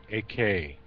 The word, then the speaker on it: Eckert: Actually, it's pronounced AK.